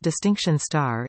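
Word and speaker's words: Distinction*: pass merit distinction and distinction asterisk pronounced distinction star a BTEC level one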